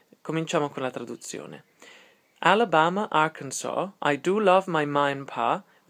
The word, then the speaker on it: Arkansas: con la traduzione Alabama arkans I do love my mind Alabama Arans o Arans è scritto Arans però in America molto spesso Lo pronunciano arkans sono due